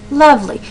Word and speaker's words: lovely: Lovely. Say it naturally. Lovely. The emphasis is on the beginning of that word.